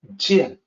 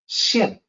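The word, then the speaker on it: 見: In the Mandarin, this character is pronounced jian. It means to see. Now, in the ancient usage, it's the same character with different pronunciation. Xian.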